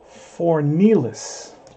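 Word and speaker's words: Fornieles: Okay, so his name is Fornells. That's how you pronounce his name. Fornells.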